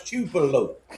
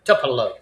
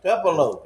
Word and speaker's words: Tupelo: They got a boy on there that cannot pronounce chupelo. It's tuffalo. Tupelo. Tupelo.